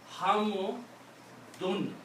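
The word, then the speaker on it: حمد: So those are the 3 sounds: dan, din, and dun. So this word now is pronounced as hamu dun.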